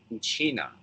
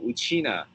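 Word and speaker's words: Uchinaa: Okinawan word uh in the okan language we pronounce it uchina so uchina Island uh is the is how we uh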